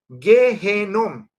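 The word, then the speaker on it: גיהנום: pronuncia Gai ben Hinnom, pero a veces se le quita el ben, el hijo de, y queda nada más Gehenom, ¿sí?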